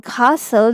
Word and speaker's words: castle: e as in purple stle as in Castle this T is silent you have to tell